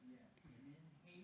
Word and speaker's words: menhaden: How do you pronounce that word? Menhaden? Yeah, menhaden?